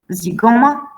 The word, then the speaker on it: zygoma: Z is Greek too. So the examples are Greek. It sounds like z. Zygoma, zoologia, eczema.